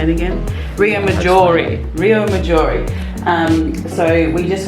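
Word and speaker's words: Riomaggiore: We discovered a little bit about Rio Maggiore.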